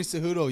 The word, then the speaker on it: Cejudo: Henry Cejudo, yeah, He's also coming back, isn't he? Yep, he's gonna be fighting that night too against Aljamain Sterling. So Henry Cejudo, he's 16-2.